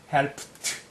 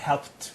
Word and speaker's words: helped: 발음은 helped. 여기에 무성음프라서 이리는 t 발음해야 돼요. God helped 이렇게요.